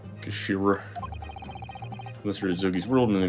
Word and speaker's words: Kashira: It's written as head in Japanese, but it's pronounced as Kashira, I believe. Kashira.